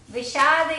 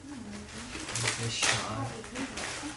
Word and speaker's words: Vishad: First chapter was Arjun, Vishad Yoga.